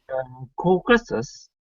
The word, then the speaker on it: Caucasus: The mispronunciation is people pronounce it as a Caucasus. They use the is. That's the mispronunciation. You guys are actually saying it. You actually saying it right. Caucasus. Sus. Caucasus. Not sis, but sus.